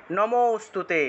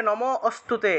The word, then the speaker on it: নমোস্তুতে: হবে দুই নম্বর দেখুন নমোস্তুতে এই যে নমস্তুতে আছে না এটাকে একসাথে আমরা নমো ম থেকে একটু টান দিতে হবে নমোস্তুতে আপনারা অনেকে নমো অস্তুতে এভাবে বললে হবে না নমো বলে থামা যাবে